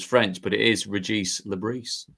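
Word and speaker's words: Le Bris: I know how to pronounce his name. Régis Lebris. There you go. Lebris. That's TV for you. Because I would have gone, as you did, Fletch, I'd have gone without the S's because it was French,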